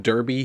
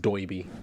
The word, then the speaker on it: Doiby Dickles: talking to Doiby Dickles, although he calls him Derby here, but with the way that Doiby talks, it's pronounced Doiby.